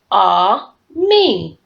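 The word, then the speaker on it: ami: French the word is on me my mother says you say it just like this ah me I love French everything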